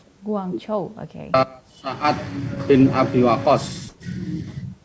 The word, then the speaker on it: Guangzhou: kalau yang kita baca, kalau cara Cina membacanya Guangzhou ya. Guangzhou, oke.